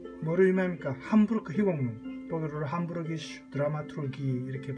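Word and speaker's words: Hamburgische Dramaturgie: 함부르크 희곡문, 독일어로 함부르기슈 드라마투르기 이렇게 발음하죠.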